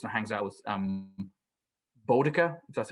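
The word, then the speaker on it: Boudica: where slain goes and hangs out with um botica that's how you say her name the celtic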